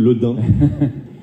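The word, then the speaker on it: Le Daim: Booth and Le Dame, and sorry for my pronunciation of the French. It's good, Le Dame.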